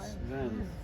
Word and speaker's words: Reims: I'm sure Reims.